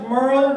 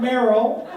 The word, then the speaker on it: Merle: wrong yes er LD it's pronounced Merle not Meryl I think well maybe